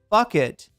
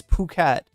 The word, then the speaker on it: Phuket: When you see the ph, it's not bucket, it's puket.